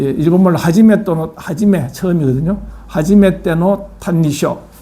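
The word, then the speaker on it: 歎異抄: 하지메노 탄니쇼 일본어으로 읽으면 이걸 탄니쇼라고 읽습니다.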